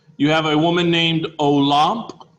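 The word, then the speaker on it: Olympe: rights of man you have a woman named olamp say that olamp i know it looks like olymp but it's pronounced olamp de gouge and she was a french journalist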